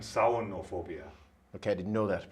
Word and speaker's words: samhainophobia: Is it scariophobia, terrorphobia, halophobia, or samhainophobia? Pronounce that last word again. Samhainophobia. All right. I would pronounce them as scariophobia, terrorphobia, halophobia, and saunophobia.